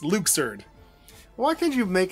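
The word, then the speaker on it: Luxord: getting his name wrong it's not luck sword it's Luke surd well why can't you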